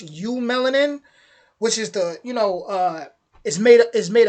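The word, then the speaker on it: eumelanin: They say EU. I think it would be pronounced U melanin, which is the is made of carbon, hydrogen, and oxygen and nitrogen.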